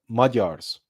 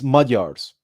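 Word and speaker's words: Magyars: And that individual was called Arpad the First and his tribe were called the Madars or Maguars if you use the English pronunciation but it's it's Majars and they settled in the Carpathian basin.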